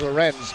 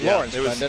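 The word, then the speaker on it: Lorentz: one is halted as lawrence wound up in the net and the net wound up off its pegs so they blow it down they'll try it again it was lorenz but now it's lawrence stephen corrected people finally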